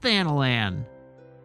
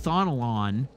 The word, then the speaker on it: Thanalan: Black Betty fan land apparently it's even pronounced thanalan it's not like thonal on okay onwards to Southern